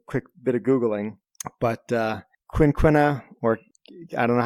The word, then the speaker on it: quinquina: But yeah, it also looks like the pronunciation is quinquina.